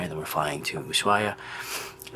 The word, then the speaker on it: Ushuaia: then we're flying to Ushuaia. And I don't know if it's Ushuaia, like an S, or Ushuaia, because it's spelled with an SH, but I think she said with an S.